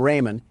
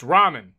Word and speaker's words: ramen: Door Dash is on its way to deliver some Raymond, and I don't want to spill any around the pyramid floors. Uh, it it's pronounced ramen.